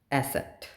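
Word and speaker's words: Eszett: वे इ्स epsilon सेट एसेट ये जो beta वाला साइन है इसे हम एसेट बोलते हैं।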